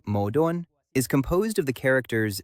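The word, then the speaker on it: 矛盾: The Chinese word for contradiction, pronounced something like modon, is composed of the characters spear and shield.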